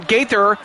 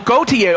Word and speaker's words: Gauthier: Gaither. Oh, Gauthier. Okay, so Gauthier, that's how you pronounce it.